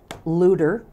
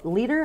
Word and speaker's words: Leader: I pronounced it Luder, and he said, "Oh, Mike Leader?"